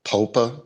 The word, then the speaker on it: POPA: a thing that the POPA, is that the correct pronunciation? Yes, Popa, right?